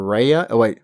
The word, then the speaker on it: Reyna: They also introduced a new character, Reyna, Reyna, from Mexico, who looks kind of like Sombra from Overwatch, whose name rhymes with Loba.